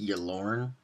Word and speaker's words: Ylourgne: This, the Colossus, I believe it's pronounced Yalorn.